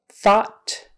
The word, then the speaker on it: thought: The second way is ah, and this is probably the most common pronunciation, ah. So thoughtful, thought, fought, meaning the past tense of fight.